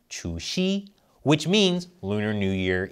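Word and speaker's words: 除夕: In Chinese, that's pronounced Chu Xi, which means Lunar New Year Eve.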